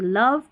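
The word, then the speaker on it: love: रखनी पड़ती है कि लव, कम और मनी के अंदर जो ओ रहता है वो अ पढ़ा जाता है।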